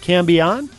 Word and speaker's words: Cambion: Matt Conton back with you again this week and my guests are this time are two of the members of Cambon.